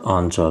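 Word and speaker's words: answer: next question is च इज the silent letter in the word आंसर तो आंसर शब्द में कौन सा मूख अक्षर है तो आंसर जो आंसर में जो एक मूक वर्ड है या साइलेंट लेटर है वह हमारा डब्लू तो राइट आंसर इ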